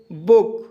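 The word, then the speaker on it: book: जैसे बुक, बुक शब्द में डबल ओ के बाद के आया है, इसलिए डबल ओ का उच्चारण शॉर्ट ऊ किया जाएगा, इसलिए इसे बुक पढ़ा जाता है।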